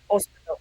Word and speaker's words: hospital: How will it be in Spanish? hospital, hospital, hospital, hospital, without H. Yeah, Hospital just I know, but which one? It's a strong syllable. uh, hospital, Da hospital, correct. hospital.